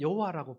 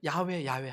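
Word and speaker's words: Yahweh: 그래서 어 영어에서는 여호와라고 부르고 요즘 이제 연구된 학문 분야에서 야외라고 불렀을 거다. 그래서 야외 야외 합니다.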